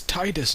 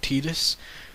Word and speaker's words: Titus: Conan Conan it's it's Titus not tetus it's not Tifa it's